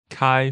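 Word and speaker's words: 开: And so next we hear the word for to open kai first tone and men second tone right and this literally means to open is kai is literally means the door.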